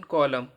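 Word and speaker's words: column: एन कब silent रहेगा एम के बाद आया हुआ एन साइलेंट रहता है जैसे सीओ एल य एम एन कॉलम तो यहां पे एन साइलेंट रहेगा सलम हो गया डैम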